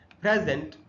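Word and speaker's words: present: और पर हो जबकि तो जब ये वर्ब के रूप में यूज़ होता है तो उसका स्ट्रेस बदल जाएगा प्राइमरी स्ट्रेस तो प्राइमरी स्ट्रेस के बदलने से देखिए कैसे उच्चारण बदल जाएगा। यहां लिखा है प्रेजेंट pronounced as a verb.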